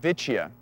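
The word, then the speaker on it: Vicia: these are actually called vicha and they're related to the vetes and so it kind of sounds like that vicha sounds a little bit like vet and that's a Latin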